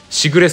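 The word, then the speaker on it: 時雨: 時雨アットしぐれさん。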